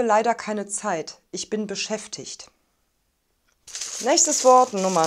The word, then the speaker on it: beschäftigt: b auf nicht die dann haben wir den kurzen vokal und das g spricht man standard sprachlich als ich laut es ist aber auch in ordnung beschäftigt zu sagen ich habe leider keine